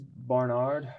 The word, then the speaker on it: Barnard: scottish way of saying it how do people pronounce it uh yes it's barnard uh barnard um it all sounds about the